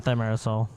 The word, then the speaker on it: thimerosal: But we know that the amount of thimerosal, is that the proper pronunciation? Yeah, thimerosal.